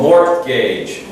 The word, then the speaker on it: mortgage: It's all, and the pronunciation is almost a bit as if the T is not there. Some people look at it and say, oh, mortgage. No, mortgage, as if there was no T, mortgage.